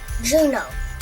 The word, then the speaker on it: Juneau: The capital of Alaska is pronounced cousin Juneau.